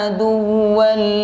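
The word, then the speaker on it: عدوا: Aduwa jangan ditahan ya, tapi ditekan saja. Jangan dibaca man kana aduwwan lillah. Nah, karena ini bukan termasuk idgham bi gunnah. Jadi cara bacanya ditekan dan pendek. Man kana aduwwan lillahi wa malaikatihi wa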